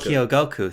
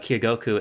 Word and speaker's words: Kyogoku: Kyogoku, thank you very much. Yeah. Who is the steward of the Animal Crossing series. It's not that we say, when we think about EPD 5, we think about Kyogoku and Nogami and these guys.